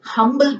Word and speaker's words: humble: And he is a humble person. He is an honest person. Here he is a humble person. Her pronunciation is there in these words.